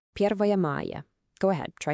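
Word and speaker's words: Первое мая: Okay, listen closely to how this is pronounced. Первая мая.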